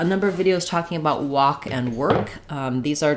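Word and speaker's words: wok: to know is that the cooking pot the walk has the same pronunciation as this taking a walk so I took a walk to go by a walk same pronunciation the IPA for those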